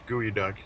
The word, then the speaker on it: geoduck: oh yeah yeah some for some reason it's pronounced gooey duck even though it's like geodc yeah there's there's gooey